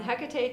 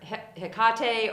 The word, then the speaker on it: Hecate: It was fun that we got to actually focus on Hecate today. Mm-hmm. Should we say real fast the pronunciation?